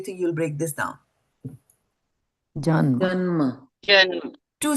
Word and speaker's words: जन्म: Janma. Janma. Janma. Two syllables. Give me two syllables. Janma. Jan and ma, right? That's how you will do that.